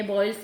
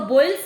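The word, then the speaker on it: Boyle: तो बॉयल्स लॉ, आप इसको याद रखने का एक आसान सी ट्रिक मैं बता रही हूँ। बॉयल्स जो नाम है, सुनने में इसकी प्रोनाउंसिएशन ऐसे लगती है बॉयल, उबलना।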